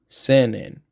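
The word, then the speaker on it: 千円: Senen. So there's no Y when you pronounce yen by itself. That got kind of dropped over time, I believe.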